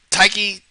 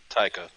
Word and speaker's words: Taika: being disney apparently um taiki did i say it right that time taika taika okay because i actually want